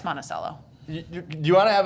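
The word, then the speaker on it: Monticello: Iowa y okay we that's Eastern Iowa we pronounce it monacello in Iowa just FYI just I'm I'm from Eastern Iowa it's monacello do you want to have a debate about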